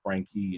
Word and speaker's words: Frankie: I make sure, even when it comes down to just the pronunciation of saying Frankie and not Frank, not Franklin, not Francis, Frank, because I'm very proud of the name that I carry.